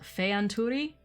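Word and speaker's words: Fëanturi: spirit or the fear so fey anturi think feya it means spirit again the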